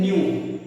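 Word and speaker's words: ν: Denote करते हैं न्यू, इसको बोलते हैं न्यू। जो NEW वाला न्यू है बस वही प्रोनाउंसिएशन है इसका।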